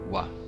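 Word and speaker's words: は: Que no hiragana é ha, mas aqui exercendo a função de partícula, ela se transforma em wa. Então tem essa diferença na pronúncia.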